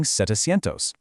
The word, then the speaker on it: setecientos: But look at seven and nine. They actually shift their vowels. Siete drops the i and turns into sete, becoming setecientos. And nueve drops the u and the e to become nove, making it novecientos. setecientos and novecientos. It actually makes them roll off the tongue a bit faster, but man, you really have to watch out for that spelling change.